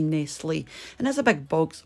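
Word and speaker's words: Nestlé: nestle how do you say that we say nestle and there's a big box box of cheerios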